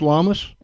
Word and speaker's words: Lamas: Is it pronounced Lamas?